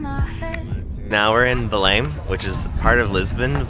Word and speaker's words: Belém: You're supposed to not pronounce the M. So Belém. Belém. So Belém means Bethlehem. So similar to in Spanish as Belén.